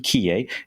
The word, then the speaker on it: Quillé: I would love to introduce a friend of mine, Quillé. if those of you who don't want to go down the French pronunciation, Quillé.